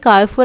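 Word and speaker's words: Carrefour: अच्छा, बहुत सारे लोगों ने मुझे आके बताया कारफोर आप बिल्कुल सही कहती हैं, सही प्रोनाउंसिएशन है, थैंक यू, कितने अच्छे हैं आप लोग ना।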